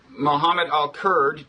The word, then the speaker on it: Mohammed El Kurd: You are Mohammed El Kurd. Did I pronounce that almost correctly?